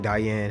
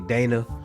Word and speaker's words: Dana: I've been saying Diane. Her name is really Dana.